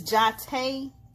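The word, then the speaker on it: Jotta: a little girl go figure my name is jate it's spelled j-o-t-t-a and when i was a little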